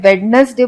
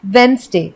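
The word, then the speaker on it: Wednesday: हैं, वेडनेसडे बोलते हैं, लेकिन वेडनेसडे नहीं होता है, क्योंकि वेडनेसडे में डी साइलेंट होता है और एक्चुअली में इसे हम बोलते हैं वेंसडे। तो वेडनेसडे करेक्ट प्रोनाउंसिएशन नहीं है, करेक्ट प्रोनाउंसिएशन है वेंसडे।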